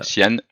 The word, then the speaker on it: Cyan: C'est Sian, on prononce Sian? Tian, Sian, ok.